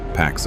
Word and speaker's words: P4X: So he created an alias, P4X, pronounced Pax a play on the Latin word for peace, except his version of peace involved payback.